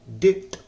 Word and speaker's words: debt: ना गलती करते हैं, इसमें बी को पढ़ते हैं, डेप्ट पढ़ते हैं, डेप्ट, डेप्ट, है ना। लेकिन यहाँ पे बी जो साउंड होता है बी का, वह साइलेंट है, इसलिए इसको पढ़ेंगे हम लोग डेट, डेट, डेट।